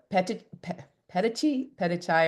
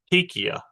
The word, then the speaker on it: petechia: and also, as we think about this question, on the reading, and Laura, it's petechia, I believe, is the correct pronunciation of that, and so people may